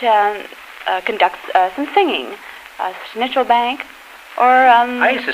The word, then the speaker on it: Schnitzelbank: uh conduct some singing schnitzel bank or um I used to sing schnitzel schnitzel bank it's pronounced oh pardon me schnitzel bank is a kind of an American uh pronunciation it's Schnitzelbank actually you